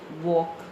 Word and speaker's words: walk: Walk. L is silent.